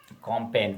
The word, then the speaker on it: campaign: Campaign, G is the silent.